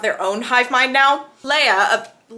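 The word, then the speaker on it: Leah: Leia, they say it like Leia in the movies.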